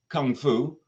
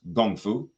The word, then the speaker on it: kung fu: invitation to practice now this word Kung Fu which is more typically pronounced gongfu is actually a term